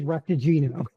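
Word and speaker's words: Raktajino: Did I remotely pronounce it correctly? Yes, it is repagino.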